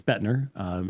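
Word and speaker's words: Boettner: I think it's Lorraine Bottner or Bettner, however you pronounce that, who is also a Calvinistic historian who admits that Augustine is the first to introduce these things. Lorraine Bottner. Okay. Yeah, it's Bettner.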